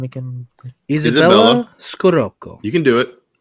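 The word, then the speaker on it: Izabella Scorupco: Isabella Scorupco. You can do it. Isabella Scorupco. Yeah. Yes. You kind of have to say it like her. Yeah. Like her accent in the film.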